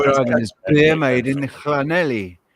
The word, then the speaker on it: Llanelli: made in Llanelli, not Llanelli. It's a Welsh name, so it's right difficult to pronounce. It is Llan, isn't it? That's how you pronounce the double L. In Spanish, it would be Yanei.